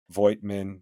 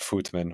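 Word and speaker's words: Voigtmann: And their big man Milutinov was pretty much neutralized by the Voigtman. I guess you're supposed to pronounce that Footman or whatever.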